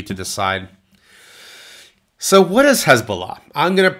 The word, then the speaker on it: Hezbollah: Now this has many names, Hezbollah, but it's often mispronounced. It's more like Hezbollah.